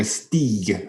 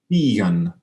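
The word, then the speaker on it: stīgan: More like a steeg for that first component. To climb was an Old English verb that's since dropped out. Will you give us a pronunciation of both parts? Stigen for the verb to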